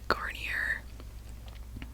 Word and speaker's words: Garnier: it's actually really nice it's from the brand garnier is how you pronounce it sleek and shine i don't know